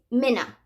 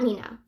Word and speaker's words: Minna: Coffee had mentioned that she got, oh, it's Minna. Sorry. Not Mina. It's Minna.